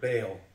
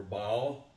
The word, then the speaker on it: Baal: That word Balaam is plural for the word Baal or Baal. Different people pronounce it differently.